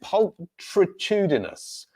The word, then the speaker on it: pulchritudinous: The pronunciation is hopefully I can get it right, is pulchritudinous. Pulchritudinous. Pulchritudinous. Pulchritudinous. So the CH there is K.